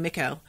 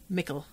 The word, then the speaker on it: Mikkel: all of it um and mikkel rhymes with pickle okay i've been saying mikko but yeah mickel okay um so his